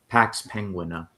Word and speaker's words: Pax Penguina: How do you pronounce that? Pax Penguina.